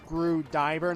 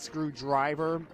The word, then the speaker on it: Screwdiver: It's Screwdiver, not Screwdriver.